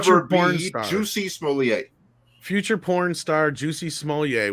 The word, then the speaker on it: Smollett: Smolliet. Juicy I'm Smollett. not To so me, sure that if the is S is silent or not.